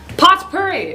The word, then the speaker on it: potpourri: go with uh potpourri going potpourri pot purry as some pronounce it two horse gelatin fighting